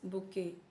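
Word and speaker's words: bouquet: Soldiers army robbers band flowers बुके। Eighty यहां पे silent है।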